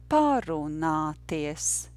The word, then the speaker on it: parunāties: And we will get the word parunāties. Parunāties. Parunāties. The stress, of course, is on the first syllable. And the rhythm would be yes, no, no, no.